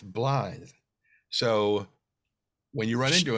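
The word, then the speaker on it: Blaidd: mentioned him is because a lot of people have been pronouncing his name blade because it's b-l-a-i-d-d blathe which means to bluff but it's welsh for wolf so it's blithe so when you run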